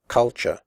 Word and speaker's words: culture: The first U is pronounced like the U in but, and the last syllable is pronounced ch.